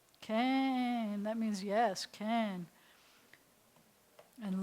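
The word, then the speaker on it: כן: final none can okay and that means yes can and low is no can this is how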